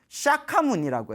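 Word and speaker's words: Śākyamuni: 석가족에서 출연하신 성자 해서 석가모니 인도말로는 샤카무니라고 해요. 샤카무니. 그래서 이제 우리 발음으로는 석가모니라고 하는데 근데이 지금 우리 부처님 시대를 석가모니 부처님의 시대라고 하고 미래에 오실 부처님을 어느 부처님이라고 하죠?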